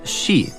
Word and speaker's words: shi: And for similar reasons in Japanese, the number four can be pronounced she and the word for death is also she.